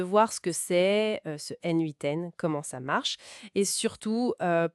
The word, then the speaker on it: n8n: Ça se prononce N8N d'ailleurs.